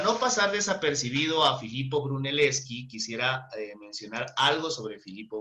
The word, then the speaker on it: Brunelleschi: Brunelleschi se Fue un, pronuncia, Dayana. Filippo Brunelleschi.